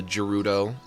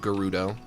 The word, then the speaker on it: Gerudo: You know, the Gorons and the Zoras and the the Gerudo or as they are pronounced now, Gerudo.